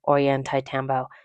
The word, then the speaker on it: Ollantaytambo: After lunch, we went to the town of, and I'm going to butcher this, Ollantaytambo. It's spelled Ollantaytambo, but pronounced Ollantaytambo, something like that.